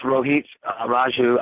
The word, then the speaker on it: Rohit Raju: Well, then I'll let you right now give us the proper pronunciation. It is. It's Rohit Raju.